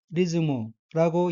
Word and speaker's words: リズム: 따라서 단어 전체는 리즈무라고 읽고 첫 음절 리에 액센트가 있으며 리즈무는 리듬, 율동, 운율이란 뜻입니다.